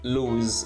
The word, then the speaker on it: lose: This is lose with a z sound at the end, and versus loose with s at the end.